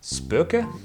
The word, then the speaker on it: SPÖKA: a little rusty but i think it is pronounced spooka anyway i found this